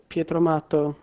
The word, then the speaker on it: Pietro Matto: Pietro Matto? Not really. It's Pietro Matto, which basically is Pietro, which is my name, and Matto, which means mad, crazy.